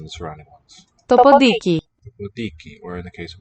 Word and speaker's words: ποντίκι: Podiki. Remember nasal and a voiceless stop are just pronounced as a voiced stop.